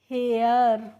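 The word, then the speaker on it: hare: अब है देखिए एच ए आर ई और एच ए आई आर तो एच ए आर ई को हम पढ़ते हैं हेयर और एच ए आई आर है इसको भी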